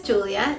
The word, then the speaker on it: Giulia: My name is Giulia, Giulia. It's Italian.